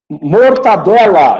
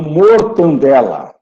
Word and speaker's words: mortadela: Mortadela e não mortandela.